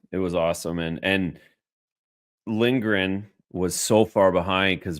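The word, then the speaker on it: Lindgren: was awesome and and lingren was so far behind because Brad just froze him enough with that shot did I call him Lindberg it's lingren did I call him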